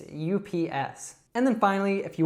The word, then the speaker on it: UPS: So as I said before, we usually don't say this as a word. So it's not oops, it's UPS.